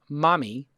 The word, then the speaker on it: Mahmee: Hana no Hana Hana she wins from mommy which is spelled phonetically mah om calm yes welcome to the